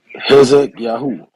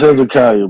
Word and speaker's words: Hezekiah: Want to speak on the topic, brother Hezek Yahoo? Hezekiah. It's Hezekiah, bro.